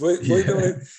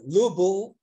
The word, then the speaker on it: Louisville: It's very funny because Louisville is pronounced like a 8 or 9, 7 pronunciation. Right. Some people say Louisville.